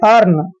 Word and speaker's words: earn: Next है EARN, यहाँ पर EA का उच्चारण ए करेंगे, आर को रे लिखते हैं और एन को न, आर जो है यहाँ पे लगाएंगे अर्न।